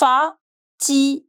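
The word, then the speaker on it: fatigué: am F fatig ftig if you're a guy you will write till e and the accent U and if you are a girl you will adding this extra e however the pronunciation in both the cases will remain same fatig fatig fatig I'm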